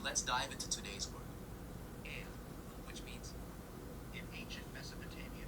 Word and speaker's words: Ea: but they basically said, let's do it Japanese style. So we'll do that. Ea. We're going to call this god Ea.